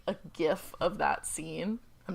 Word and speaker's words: GIF: It's a GIF. No, it's a GIF. It's the acronym is G for graphic. It's a hard G. It's not. Says who? Says the person who invented them.